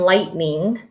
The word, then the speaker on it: lightning: I see one here there's the GH and lightning I don't hear the GH so we're looking for